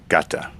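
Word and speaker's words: 型: ninjutsu, that means the kata. Kata. Kata is pronounced gata.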